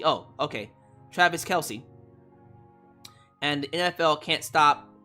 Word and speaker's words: Kelce: a football player named Travis C pronounced Kelsey oh okay Travis Kelce and the NFL can't